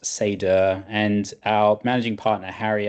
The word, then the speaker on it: Seidr: So an old Scandinavian name, it's pronounced Sedur and our managing partner Harry actually has Swedish roots and means wisdom and foresight in old Norse.